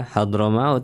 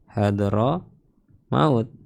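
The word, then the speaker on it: حضرموت: Hadar maut nama kota hadr maut kita bacanya hadro maut. Ini termasuk kata yang tidak bisa ditanwin. Hadro maut atau mauta. Enggak bisa dimauti ya.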